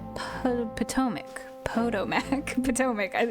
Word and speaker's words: Potomac: Thousands of cherry trees along the banks of the Po PTOIC. Po PTOAC. Potomac. PTOAC. Is PTOIC right? No. I've heard someone say this. The the Ptoic. Potomac, sorry, I forget how to say this one.